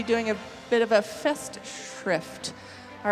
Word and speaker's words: Festschrift: A Festschrift. Oh. Say it again. Festschrift.